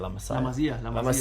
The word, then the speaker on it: La Masia: La Masia. La Masia.